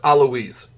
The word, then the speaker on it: Alois: I'm pretty sure it's Alwa. Who? Pretty sure. I haven't been listening to anyone's names with voice acting, so. Oh, his name? His name is pronounced Aloise.